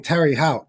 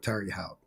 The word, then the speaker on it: Terre Haute: Anyway, he was in Terre Haute, which I think that's how you pronounce it. I know some people say Terre Haute. That's just not how it's spelled. So I'm going to go with Terre Haute.